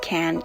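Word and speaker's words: Cannes: lip liner and shade can now that spelled C a and an es like can Italy and yes that's how you pronounce it I had to google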